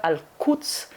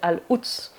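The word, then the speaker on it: القدس: A Nazareth on ne dit pas par exemple : "alquds", pour dire Jérusalem, on dit : "al'uds" parce que c'est trop impudique.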